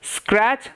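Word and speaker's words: scratch: তারপরে স্ক্রাচ স্ক্রাচ স্ক্রাচ সি এইচ এর আগে টি সাইলেন্ট ওকে স্ক্রাচ তারপরে কিন্তু এই যে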